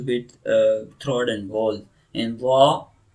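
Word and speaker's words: ظ: In za. So tip of the whole tongue between the teeth, okay, between the teeth and a little bit throat involved in pronouncing za.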